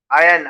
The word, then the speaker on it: iron: Are silent होगा। मयंक बताइए आप। अनमोल आप बताइए। आयन, आयन, हाँ नॉर्मल।